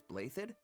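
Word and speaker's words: Blaiddyd: evonne is actually just a branch of house blathed that's how you pronounce it yes though really if you trace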